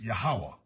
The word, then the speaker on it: Yahweh: I was taught the pronunciation is Yahweh, but we know it's talking about the same